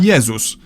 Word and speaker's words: Jezus: In Polish we call him Jezus, but if we were to pronounce his name the English way, we'd write it down as Jesus.